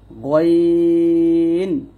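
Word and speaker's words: غ: তারপর 3 নং মাখরাজটা হচ্ছে হলকে শেষ হইতে উচ্চারিত হয় গইন খ। আর এই দুটো হরফ আমরা কণ্ঠনালীর শেষ থেকে মোটা করে উচ্চারণ করব। গইন গ, মোটা করে গইন খ, এরকম ভাবে।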